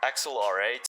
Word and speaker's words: Axle R8: just wow turns out the axle r8 is actually supposed to be pronounced like accelerate which of course i knew that axle r8 can't they just like